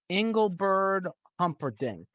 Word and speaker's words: Engelbert Humperdinck: Why don't we go with Engelbert Humperdinck?